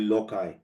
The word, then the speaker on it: loci: If you speak Latin, you can call it loci, or the C and the I, you pronounce it is silenced, loci.